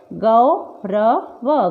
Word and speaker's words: गौरव: ग में आओ की मात्रा क्या पढ़ेंगे? गौरव, गौरव। और ल में आओ की मात्रा तो लौटा, लौटा, लेकिन हम क्या करते हैं? नॉर्मली लोटा, गौरव, गोरा ऐसे पढ़ते हैं, जो गलत होता है।